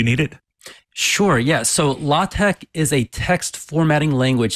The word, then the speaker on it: LaTeX: don't know what that is or even how it's spelled can you give us the the quick answer to what law Tech is and why you need it sure yes so law Tech is a text formatting language it's based off